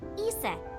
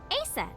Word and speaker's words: Isis: Horus's mom is named Isis, but in ancient Egyptian, it's pronounced closer to Iset or Aset.